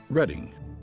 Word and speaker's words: Reading: The Philadelphia and Reading Railroad, later the Reading Company, is actually supposed to be pronounced Reading.